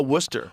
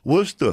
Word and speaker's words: Worcester: that the you it for steak sauce oh Worcester Worcester yeah yeah it looks weird I was 2010